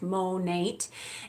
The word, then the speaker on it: Monat: so first of all Monat stands for modern nature that's why it's pronounced Monat and it is the